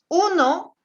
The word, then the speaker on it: un: Uno se dice un.